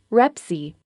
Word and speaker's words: REPC: state approved form is the repc pronounced rep see there is not an